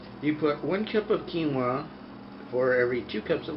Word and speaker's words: quinoa: Quebec but I have no idea and it's pronounced quinoa it sounds like uh something a first nationer